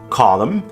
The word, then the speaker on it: column: Like silent B's, silent N's tend to come at the ends of words and after M. Arm, column, dam, hem, limb, solemn.